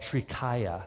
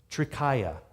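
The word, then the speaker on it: Trikaya: Greek and Latin so the first syllable tree you recognize from Trinity and triple and all of that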